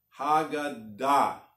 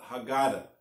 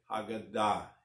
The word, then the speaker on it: Haggadah: proper Hebrew pronunciation is hogun dot usually words Hebrew words the end and the accent is on the last syllable now I know people tried to Americanize the word and they called Haggadah but it's really called